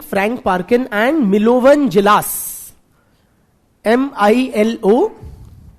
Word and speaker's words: Djilas: Frank Parkin and Milovan Jilas, MILOVAN, N for Nagaland, MILOVAN, Jilas, DJ, हाँ D silent था थोड़ा, Milovan Jilas, MILOVAN, DJILAS, क्या हो गया ना?